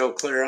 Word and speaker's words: Eau Claire: Eclair? Eau Claire, Eau Eau Claire. Claire. Yeah, somewhere around there. Yeah, that's French. As far as I know, the whole state pronounces it Eau Claire.